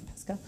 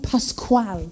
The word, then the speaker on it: Pascual: But no, that's how he said to say it, because that's what I'm like, Pascal? No, Pascual. So he had a hard time pronouncing his own name.